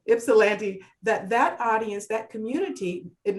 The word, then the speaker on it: Ypsilanti: And James is finding new ways to connect with audiences that he that may not cross the Ypsilanti. I know I'm pronouncing it terribly. Ypsilanti. Right, Ypsilanti.